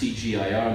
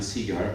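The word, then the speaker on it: CGIAR: So don't tell my organization, which actually should be pronounced CGIR, not CIGAR, but 80% of people pronounce CIGAR, so you are forgiven, Barbara.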